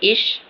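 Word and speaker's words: ich: जैसे यहां पे इश। ठीक है? इश का मतलब होता है आई। एक और यह भी आपको जरूर याद हो जाना चाहिए। यह इच नहीं है। यह इश है।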